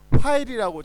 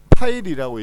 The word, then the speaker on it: 파일: 마찬가지로 FILE 이거는 F니까 역시나 화일이라고 잘못 읽는 경우가 많은데 화일이 아니고 파일이라고 읽어야 되고요.